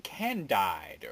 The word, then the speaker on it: Candide: Number 11, Candide. Or actually, I think it's pronounced Candid.